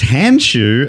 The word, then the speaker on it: Handschuh: And that means Dave Warneke is correct, it is hand shoe, and the word is hand shoe. But it's spelled spelled uh Handschuh. like that.